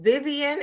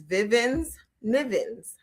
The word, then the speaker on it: Vivens Nivens: and I would go, "No, my mother's name is Vivens Nivens. I know it rhymes. I know it may be unconventional, but her name is Vivens Nivens. Yes. No, I didn't mean Vivian. I meant Vivens.